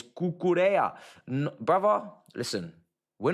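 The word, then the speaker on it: Cucurella: Gonna ask why Brits are so bad at pronouncing Spanish names. It's Cucurea.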